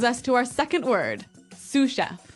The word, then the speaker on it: sous chef: Um that brings us to our second word, sous chef. Sous chef. Sous chef. Sous chef. S O U S. So, the S is silent because it's like a French word.